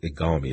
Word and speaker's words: Igalmi: better your lead product bxcl501 also known as igami is that the correct pronunciation of the of the trade name yes